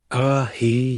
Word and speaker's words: Ahei: Ahei. Yeah, she corrected, pronouncing it slowly. A hehei, Luna tried again, earning a nod.